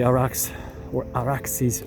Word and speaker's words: Arax: Arax, right by the Araxes River, using the Persian, Akkadian, Sumerian pronunciation. It's Arax, but the derivation is much more ancient.